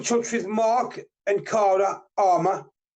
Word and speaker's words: Amour: with Mark and Cara Armour, but it's spelled AMOUR, but it's said Armour, Mark and Cara Armour,